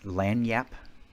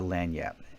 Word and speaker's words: lagniappe: about that little extra, I think the pronunciation is lagniappe, and I was introduced to it at a French restaurant.